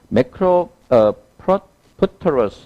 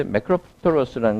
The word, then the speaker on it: macropterus: 여기서 보면 이 단어는 우리가 다시 볼 일이 별로 없기 때문에 그런데 자 여기서 보면 macropterus 발음부터 한번 Macropterus. macropterus, 두 번째 없는 절의 강세.